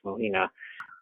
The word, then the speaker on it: Mujina: Heads separating from bodies at night, or flesh-eating goblins, and terrifying faceless Mujina, pronounced Mohina, who haunt lonely neighborhoods.